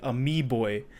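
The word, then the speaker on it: amiibo: calling this whole idea they're calling it a me boy and that's spelled a m i I like me and then Bo like amoeba but a me boy very interesting name I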